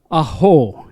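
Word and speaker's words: ʻAho: The apostrophe is a glottal stop. And so when you say her last name, it is the vocal cord closed with the vowel sound A. Aho is her name.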